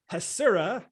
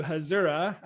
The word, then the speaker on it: Hasura: that i have been saying the name wrong for the last year and a month or so so hasura as opposed to hazura um so yes say it all with me everybody hasura with an s there we go all